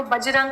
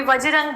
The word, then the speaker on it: बजरंग: और बजरंग बली, जो बजरंग बली है एक्चुअली में, जो आप प्रोनाउंसिएशन में उनको बजरंग कोई बोले, कोई वज्रंग बोले, कोई प्रॉब्लम नहीं है, पर बजरंग का मतलब होता है डायमंड जैसा शरीर।